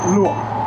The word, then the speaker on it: luộc: Luộc.